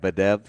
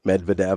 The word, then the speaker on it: Medvedev: But Medvedev. yeah, I always want to say Medved, and that's not right. Medvedev, I always leave out a You syllable.